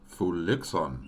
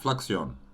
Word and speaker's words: Fluixon: Fluixon. Oh, is that how you pronounce his name? Not Fluxion. Okay, I guess I was wrong.